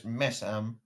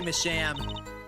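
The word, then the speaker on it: Misham: Why do you say it like that, since I more see it as Messam? I say Masham because they are shams. Their works are a bunch of shams.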